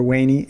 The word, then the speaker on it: veni: metamorphoses the preface's title veni or wani in its classical latin pronunciation the second person imperative